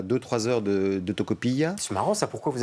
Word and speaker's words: Tocopilla: Mais là, cet endroit, ce village, qui s'appelle comment encore Oui, Tocopilla. Tocopilla, oui, c'est ça, comme ça vous prononcez mieux que moi.